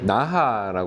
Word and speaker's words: Naja: 국내 브랜드 중에서는 ATSA라는 브랜드가 요즘에 이제 그 조금씩 활동을 예, 하고 계신데 요런 그 펜던트 요게 이제 나하라고 그래서 영어른 NAJA라고 쓰고 나라고 읽는데요 나라는 펜던트가 인디언이죠.